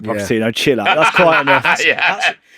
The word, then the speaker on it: Pochettino: Pochettino, who managed him at Spurs. I put him next to Ronaldinho, Maradona, and Okocha. One of the most unbelievable talents in the history of football. All right, Pochettino, chill out.